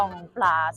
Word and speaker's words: Grand Place: เกี่ยว กับ ที่ นี่ เมื่อ กี้ เรา เรียก ว่า Grand Place ซึ่ง จริง ๆ แล้ว มัน อ่าน ว่า กอง ปาส นะ คะ กอง ปาส เนี่ย ก็